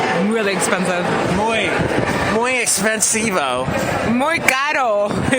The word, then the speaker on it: caro: Caro. That's the proper way to say it in Spanish. Caro. It sounds like car-o. It does, but it's not carro. Because Spanish for car is auto. Carro tiene doble R.